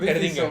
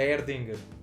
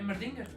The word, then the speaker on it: Erdinger: A Erdinger. É Mardinger? Erdinger. Não, Erdinger. Sim, é Como é que se escreve Merdinger.